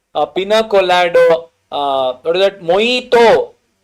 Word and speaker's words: mojito: col what is that moito they'll say mojito but no you you're illiterate you should pronounce it as moito okay moito will get Blue color.